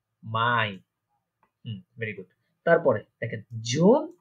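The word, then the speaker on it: Mai: পরবর্তী হচ্ছে আমার পরবর্তী মাসের নাম হচ্ছে মাই, যেটা আমরা মে বলে থাকি, সেটাকে রয়েছে বলে কি মাই।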